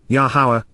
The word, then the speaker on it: Yahowah: portion that is part of the whole of, Yahowah, the proper pronunciation of the name of Yahovah, our Eloah,